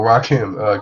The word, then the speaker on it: Rakim: And then there's also, I want to say Rakim, but I feel like that's not how you pronounce the name. That is how you pronounce it. Okay, beautiful. Rakim.